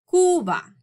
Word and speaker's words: Cuba: So this country is often referred to as Cuba, but in Spanish, the correct way to pronounce it is Cuba.